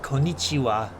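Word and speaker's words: こんにちは: Sam okay cor con you may have noticed something interesting about the spelling pronunciation of konichiwa and konbanwa the final character characters are the ha principle more of that in the later lesson rather than the W which you are actually hearing that's because these phrases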